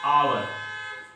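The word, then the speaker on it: hour: पांचवा हमारा एग्जांपल है आवर। इसके सामने क्या यूज करेंगे? इसके सामने हम क्या यूज करेंगे? एच साइलेंट है इसलिए हम क्या पढ़ते हैं इसको? आवर।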